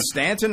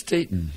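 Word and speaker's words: Staton: you know who candy ston is she she's not related to me that's not what it says here it is it Stanton or ston it's ston s a t o n that's the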